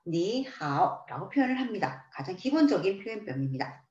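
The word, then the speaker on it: 你好: 니하오처럼 삼성과 삼성으로 이루어져 있을 때에는 앞에 나오는 단어의 삼성을 이성으로 변화시켰습니다. 그래서 니하오, 니하오라고 표현을 하시는 거죠.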